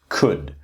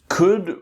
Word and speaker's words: could: And the next one is could. So could rhymes with the word good.